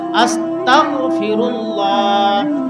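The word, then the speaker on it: أستغفر الله: উচ্চারণ আমাদের জানতে হবে সঠিক উচ্চারণ হলো উচ্চারণ করতে হবে আস্তাগফিরুল্লাহ আস্তাগফিরুল্লাহ আস্তাগফিরুল্লাহ এটা হলো সঠিক উচ্চারণ কারো যদি আয়ত্ত না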